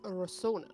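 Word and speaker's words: Rosohna: Lauren, how do you pronounce the name of the city where we are? It is Rosona.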